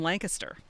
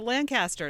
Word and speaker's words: Lancaster: from central Pennsylvania because they would say oh yeah I'm coming down to Lancaster and like no no you know you're not right no you're a foreigner you're coming to Lancaster in fact a couple